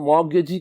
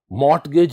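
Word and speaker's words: mortgage: होगा जिसे मॉर्गेज और मॉर्गेज का रिलेशनशिप कहा जाता है डियर स्टूडेंट्स यहां यह चीज याद रखिएगा इसमें टी साइलेंट है इसे मॉर्गेज पढ़ा जाएगा मट गज नहीं पढ़ा जाएगा इसे द एक्चुअल प्रोनंसिएशन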